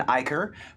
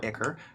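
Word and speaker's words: ichor: of soul coins and demon Iker or IKAR if you pronounce it correctly for literal food and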